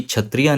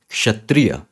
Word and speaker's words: क्षत्रिय: यह है क्षत्रिय क्षत्रिय क्योंकि क और श से बना है तो आपको खुद बोलने में यह चीज पता चलेगी कि क्षत्रिय नहीं क्षत्रिय यह सही प्रोनंसिएशन यह सही उच्चारण है इस संयुक्त व्यंजन का